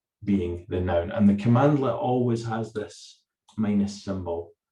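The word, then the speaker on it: cmdlet: made up of these small um objects called commandlets okay and it's it's written cmd let's but it's pronounced commandlet okay and the commandlets are just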